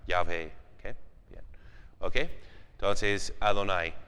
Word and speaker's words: Yahvé: mitad del siglo XX, era más Jehová, pero luego creo que tienen la más evidencia para decir, no, más bien se pronunciaba Yahvé.